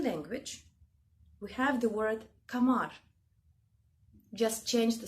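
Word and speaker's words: قمر: In Egypt, they don't say kamar. They eat sound k and they say amar. Okay, but what I understood in the original Arabic language, it's called kamar, which means moon.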